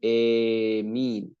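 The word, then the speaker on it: آمين: Jadi bacanya emin, emin, dibaca imalah, harakatnya dimiringkan.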